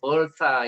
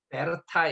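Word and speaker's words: Bertha: 저는 오늘 이 올링거 그리고 이분들이 독일 분이었기 때문에 사모님의 이름이 우리가 영어로 하면 뭐 벌타 이렇게 발음이 되겠습니다만 베르타 이렇게 발음을 하시더라고요.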